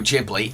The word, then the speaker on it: Ghibli: Studio Ghibli, and yes, that is how one of the studio's co-founders pronounces Ghibli before anyone starts lynching